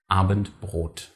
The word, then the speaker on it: Abendbrot: Abendbrot.